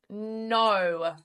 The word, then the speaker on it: know: Um, a really common word as well with silent k is no. Like I don't know. Okay. Um, so that's a word that I think we use often. So, just remember that it's spelled K N O W.